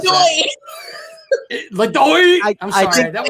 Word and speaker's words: LeDoux: LeDoux. I'm I sorry. think That was up until today. It was probably LeDoux. Yeah, no, you say it like this. LeDoux, like that. It is LeDoux or LeDoux.